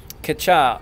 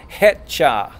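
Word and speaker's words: 갈려: one is catch ah catch ah I've heard it's pronounced head cha like with an H that is incorrect it's K like ketchup so it's gonna be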